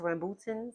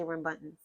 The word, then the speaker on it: rambutans: I think it's pronounced rambutans, but I say rambuntans.